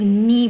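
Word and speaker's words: knee: घुटनों को लोग नी बोलते हैं। कि आपके पास साइलेंट है, ये नी वर्ड है, NEE, नी।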